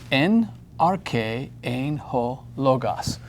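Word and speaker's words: ἐν ἀρχῇ ἦν ὁ λόγος: En arche ein ho logos. Note the accenting. We have an accent here over our K, the K syllable. We have an accent here, the first syllable of logos.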